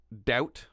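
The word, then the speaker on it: Daut: Such is the case of the brothers David and John Doubt. I believe that's how you say it. Dot. D-A-U-T.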